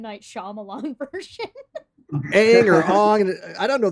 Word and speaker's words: Aang: How do you pronounce it? V A V Y. That the airbender dude, the Shaolin monk dude. Aang.